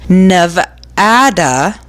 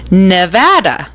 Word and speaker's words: Nevada: Nevada means snow-capped but if you say the state's name with the Spanish pronunciation Nevada you probably don't live there don't laugh for me locals usually pronounce it Nevada so Nevada or Nevada